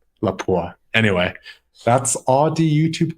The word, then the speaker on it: Lapua: I also had the opportunity to ask a Finnish shooter personally at an ISSF World Cup event, and he pronounced it Lapua. So I guess Lapua it is.